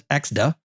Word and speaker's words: ECDSA: And how to evaluate and use ECDSA, or I'll pronounce it as EXDA, certificates in AWS Certificate Manager.